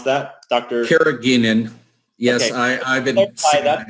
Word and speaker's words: carrageenan: people asking about the carat how do you pronounce that dr carrageenan yes I've been apply that not indeed that's